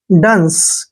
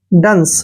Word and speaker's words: dunce: Next word DUNCE, DU का उच्चारण ड करते हैं, डू नहीं करना है, ड, और एन को आधा न और सी को से लिखना है। डंस क्या पढ़ना है इसको? डंस।